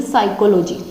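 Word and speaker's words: psychology: पूछे जाते हैं, जैसे साइकोलॉजी, क्योंकि इसमें बहुत ज़्यादा गलती के चांसेस होते हैं। साइकोलॉजी, साइकोलॉजी बोला तो पी साइलेंट हुआ, सारे 2015 में आया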